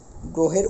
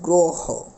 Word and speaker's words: গ্রহ: সংকৃত উচ্চারণ হবে অর্থাৎ অ এর উচ্চারণ ও এর মত হবে যেরকম গ্রহ বানানে গ